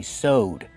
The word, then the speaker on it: sewed: In the past, we say sewed. We just have the D sound at the end. Sewed. You put ED, link the sounds.